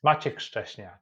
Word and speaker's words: Maciek Szczesniak: Did I pronounce that correctly? Yes, yes. Maciek Szczesniak, yes.